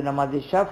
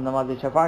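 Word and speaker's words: शफ़ा: बजाय 3 रकत जो नमाज शफ और नमाज वित्र है, जिसको हम नमाज शफा कहते हैं, लेकिन सही प्रोनाउंसिएशन उसका नमाज शफ है, फे के ऊपर सुकून है शफ, और नमाज वित्र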